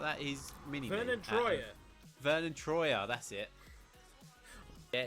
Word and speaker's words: Vernon Troyer: Voitron. He's trying to say Vernon Troyer. How do you say his surname? Or something like that. He's mini. Vernon Troyer.